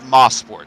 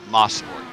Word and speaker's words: Mosport: Gavin Sanders says it's Mosport. That's how you're supposed to pronounce it, Mosport, because I guess a lot of the track is named after Sterling Moss, so Mosport.